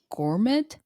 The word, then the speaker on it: gourmet: Gur is gourmet. Gourmet. Gourmet in English. Yeah. So, you don't pronounce tea.